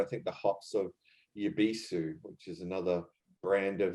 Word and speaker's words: Happoshu: regular Sapporo, and I think the hops of Happoshu, which is another brand of theirs.